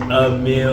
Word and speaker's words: Emil: Um, my name is Emil, spelled E M I L, pronounced a meal like you're eating a meal.